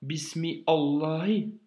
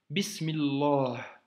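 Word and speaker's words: بسم الله: Par exemple, au début de Surat al-Fatiha, tu ne dis pas Bismi Allahi, tu dis Bismillah. Tu vois? Bismillah. Tu l'as fait toi-même la liaison en fait. C'est juste qu'en écriture, ça s'écrira séparé, mais dans la lecture, à l'oral, tu fais la liaison.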